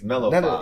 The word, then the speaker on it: Mellophile: It's not the other word that it might sound like, and we don't want to be associated with none of that. It's Mellophile.